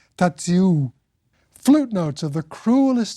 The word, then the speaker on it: Tadziu: kind of howl, and a long-drawn ooh sound at the end, and that's the way Tadzio's name in German goes, apparently, or in Polish, Tadziu.